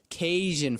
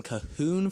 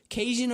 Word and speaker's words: Cajun: Actually, Mexican lady, Cajun originated in Louisiana, and it has nothing to do with Spanish.